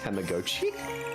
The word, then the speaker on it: Tamagotchi: Apparently the correct way to pronounce Tamagotchi is in fact Tamagotchi.